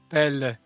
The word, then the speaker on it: Pelé: It It's pelle. Yeah. He says it rhymes with le pelle.